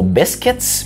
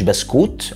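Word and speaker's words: biscuits: بالانجلش البريطاني اسمه بسكتس مش بسكوت او بسكويت.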